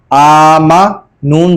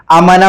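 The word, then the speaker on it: آمنا: हिज्जे सही तरह करें क्योंकि अमूमन देखा है बच्चे इसको अमाना पढ़ते हैं हमजा को खींचते नहीं है बल्कि जबर के साथ पढ़ देते हैं और स्पीड में पढ़ते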